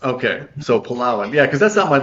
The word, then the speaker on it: Palawan: Oh, so that's on, and I always pronounced it Palawan, but that's not correct, is it? It's It's Palawan. Palawan. Okay, so Palawan.